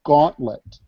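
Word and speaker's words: Gauntlt: And another tool that developers are starting to look a lot at is called Gauntlet. And that's spelled like Gauntlet, only without an E at the end.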